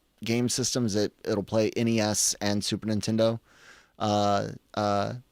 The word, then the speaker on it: NES: And guys, the proper way to pronounce it is NES and SNES or Super NES.